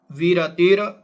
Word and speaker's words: विरतिर्: फिर यच्चा, यच्चा नुपसेव्य में तदपि जहियात, जहियात अभिसंधिकृता, अभिसंधिकृता विरति, विरतिर, रा जो वी के ऊपर जो रा है इसके साथ बोला जाएगा, विरतिर विषया योग्यात, योग्यात व्रतम भवति।